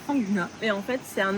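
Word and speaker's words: Phang Nga: dans la baie de fangna je crois que ça se prononce comme ça en français fangna et en fait c'est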